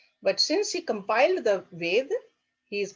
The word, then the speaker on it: Veda: maheshwara guru oh we often use the word or veda okay actual pronunciation is veda veda that means knowledge knowledge